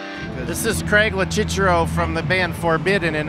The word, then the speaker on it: Locicero: You just pronounce it just the way they do in Italy, Locicero. Yeah, that's no right. One pronounces it like that here. It's Locicero here, but that's good. But is it wrong? No, it's not wrong.